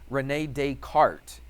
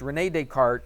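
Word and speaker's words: René Descartes: Renee Decart. It's got a S on there, but in France, I guess they don't pronounce the S. So, it's Renee Decart.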